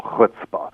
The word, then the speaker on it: chutzpah: Well, it's pronounced with a ch in Hebrew.